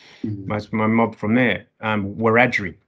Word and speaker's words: Wiradjuri: My mob from there, Wiradjuri, just correcting you on your pronunciation at the front end there, Wiradjuri, right?